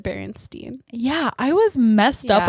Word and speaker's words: Berenstain: next one is the berenstein bears or the berenstain bears which one is it b-e-r-e or b-e-r the baron stained bears but you pronounce it berenstein yeah i was messed